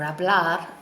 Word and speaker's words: habla: is able H ABL remember we don't pronounce the H's in Spanish that's why we say a blog or habla not a hablar so